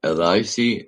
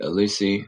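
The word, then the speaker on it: Élysée: It's spelled E L Y S E E L Elisi. Elissi. I think it's Elissi.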